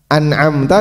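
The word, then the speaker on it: أنعمت: An'amta dibaca an'amta.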